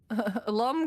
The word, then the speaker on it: Loom: But you know, if Loom is in charge, Lum kind of rhymes with dumb.